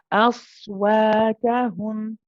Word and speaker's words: أصواتهم: See the wa sounds heavy now. You want it aswa.